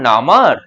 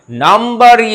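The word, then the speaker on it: number: যেমন হচ্ছে পি এল ইউ এমবির এখানে বি সাইলেন্ট হয়ে যাবে হয়ে যাবে প্লামার নট প্লামার ও স্যার যেমন নামার নারে এক্ষেত্রেও এক্সেপশনাল নামার নয় নাম্বারই হবে আরে দূর দূর পড়াশোনাটা যে কে বানিয়েছিল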